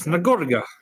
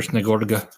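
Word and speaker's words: Snegurochka: Snagorga. Yeah, you say it like that.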